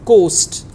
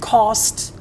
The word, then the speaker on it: cost: You pronounced it as coast. So coast is another word and cost is another word.